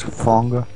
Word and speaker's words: Fonger: fong i like without the second m just fonga oh sure okay we we're gonna roll like